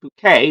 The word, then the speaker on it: Bucket: She is married to her long-suffering husband, Richard Bucket, though she insists on pronouncing it Bouquet because she's a snob, and the plot